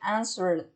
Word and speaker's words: answered: Los que se pronuncian con d, por ejemplo, answer, responder, le agrego ed porque es regular y ya quedó en pasado y al pronunciarlo suena una d, answered, answered.